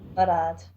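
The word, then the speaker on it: Marad: It's spelled M-A-R-A-D is his last name. Murad.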